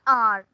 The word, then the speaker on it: hour: Suppose we call it as an hour, H-O-U-R. Though it is H-O-U-R, we are not pronouncing H over here.